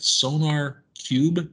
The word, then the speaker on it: SonarQube: called uh i hope i'm saying this right sonar cube is that how you say it yes sir